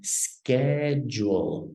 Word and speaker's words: schedule: very good diego so just be careful the pronunciation here is actually going to be like a k so it's going to be schedule schedule okay schedule very